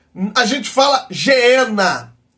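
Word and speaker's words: γέεννα: é a gente fala genena a gente fala genena mas no grego seria Gena é um lugar de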